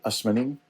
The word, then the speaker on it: Asomaning: my Ghanaian friends will recoil in horror because that's not how it's said in Oh, Ghana. really? No, in Ghana, Oh, it's said Asmaning.